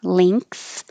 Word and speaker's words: length: making the ink length or you can say and this is um from the dictionary not just me making it up length and the vowel is e as in head so it's more flat in the mouth length width is weird